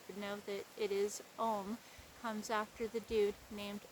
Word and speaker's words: ogham: particularly known as the ohms and that sounds like ohm but it's spelled differently o g h a m or some people say o wong but it's really more like om it depends on what